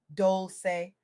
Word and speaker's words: Dolce: I'm your host, Dolce, pronounced Dolce, like sweet softness whispered in French, and I'm here to